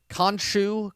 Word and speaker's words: Khonshu: now he sees um how do you pronounce it that is it khonshu konchu k-h-o-n-uh s-h-u khon